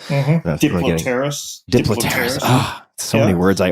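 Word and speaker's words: Diplopterys: Is that how that's pronounced? Diplopterus.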